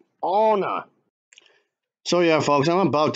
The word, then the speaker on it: Anna: It's pronounced Anna, not Anna. It's Anna.